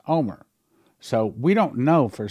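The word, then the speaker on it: Olmert: name o l well you spell it o l m e r t but it's pronounced Omer so we don't know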